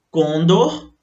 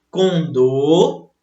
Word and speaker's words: condor: Observe aqui que algumas pessoas, elas costumam errar essas palavras aqui, olha só. Por quê? Elas pronunciam como se fosse uma paroxítona, mas na verdade elas são oxítonas.